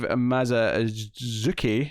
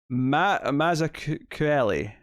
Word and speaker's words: Mazzucchelli: Although art is by Dave Mazzucchelli, if I'm pronouncing that right. Or is it, sorry? Go on. Mazzucchelli. Mazzucchelli, I think.